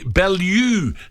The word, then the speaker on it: Bellew: Tony in BL knows Tony bellu Tony Good morning Tony oh he finally pronounces it right it's not I was